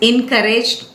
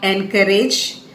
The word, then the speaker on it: encourage: use to support others encouraged not encouraged that is encourage so the second syllable is to be stressed courage in Courage